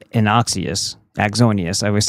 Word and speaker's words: Axonius: How Israel Intel linked and Axius penetrated 70 US Oh. They like to penetrate. Why is this not opening? How Israeli linked A- Inaxius Axonius, I always say it wrong.